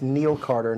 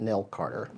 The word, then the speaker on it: Neil Carter: And it's Neil Carter, not Nell Carter.